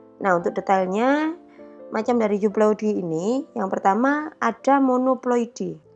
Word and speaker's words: euploidy: Secara garis besar dibagi menjadi dua, ada euploidy dan yang kedua ada aneuploidy. Tulisannya euploidy, bacanya U.